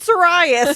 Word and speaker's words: Sirius: But and we already know she's pronounced Hermione Hermione. So I'm in Sirius Black. I said Sirius.